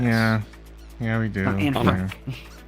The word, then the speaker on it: Frank: here we got we we pronounce an we pronounce it as an Frank like you probably know the stories of Anne Frank and Dr Frank and thing so it's not pronounced in Frank that's the American pronunciation it's on Fran mhm